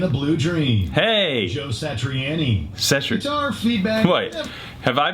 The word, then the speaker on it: Satriani: Joe Satriani. Guitar feedback. Wait, have I been saying Joe's last name wrong my whole life?